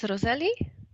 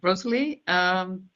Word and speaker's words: Rosalie: And then the last one is Roseli. Hello. Hello. Good morning, good afternoon. Yes, my name is Rosalie. Sorry, Rosalie. Yes, I mispronounced that.